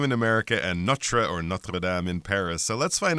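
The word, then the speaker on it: Notre-Dame: I think sometimes you might hear like Americans say Notre Dame or something like that, but ooh, you don't do that if you're trying to say a French name. Notradam.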